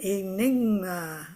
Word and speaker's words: enigma: Put your hand on your knee and say knee. And then think of ma. And I went, enigma.